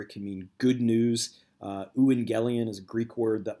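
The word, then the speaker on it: εὐαγγέλιον: you a transliteration of the Greek word it's pronounced Lu and galleon can mean gospel or it can mean good news ooh and galleon is a greek word that was often used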